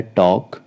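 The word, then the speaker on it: talk: हिंदी में आधा आधा नेक्स्ट एग्जांपल है टॉक टी ए एल के के से पहले एल है यहां पर एल साइलेंट रहेगा यह बन जाएगा आपका टॉक इसका अर्थ होता है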